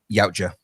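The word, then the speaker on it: Yautja: And Dan Trackctenberg says the How do you pronounce that? Yaoa. The Yaoa saga is just getting warmed up.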